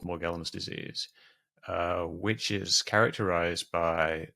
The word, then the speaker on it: Morgellons: Now, you originally got into debunking conspiracy theories by focusing on, is it Morgellons? How How do you I pronounce pronounce it Morgellons, but it's also pronounced Morgellons.